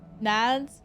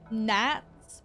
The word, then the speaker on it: gnats: Nads? No, Nats, but it's spelt with a G, I believe.